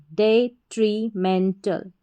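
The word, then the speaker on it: detrimental: फिर से देखें एक बार, DE डे, TRI tree, MEN मैन, और फिर TAL टल, डेट्रीमेंटल।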